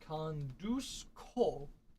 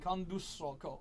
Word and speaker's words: conduzco: So, our first irregular form for I conduct is conduzco. The Z, conduzco. Conduzco, yeah. All the Z's in Spanish are pronounced with an S sound. You'll never actually say the Z.